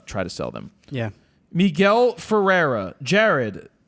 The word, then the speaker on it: Miguel: I wouldn't uh try to sell them yeah Miguel Ferrera Jared m i gel migle oh so they did the phonetics F Miguel yeah it is Miguel I said Miguel but they you said me Migel well m i hyphen g l that's M